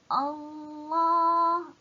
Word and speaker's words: Allah: Cara bacaan Allah bagi sebutan yang pertama ini, kalimah pertama Allah, depannya tak ada apa-apa kan, dia mulakan dengan Allah, maka perlu dibaca dengan tafkhim ataupun tebal.